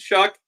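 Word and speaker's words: Shough: I appreciate that and shuck it's sh it's like shuck corn Tyler sh is what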